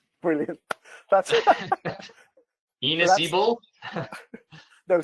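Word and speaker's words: Ynysybwl: Enos Ebol. No, say that one again, please. Enos Ebol. The last bit's not too bad. So the first one is Tonarevol. Okay. And the second one is Inisabul.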